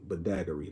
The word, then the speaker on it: Badagry: 1840s Cherokee Ephraim Williams of Bass, paramount ruler of Badagry, that's how you pronounce it.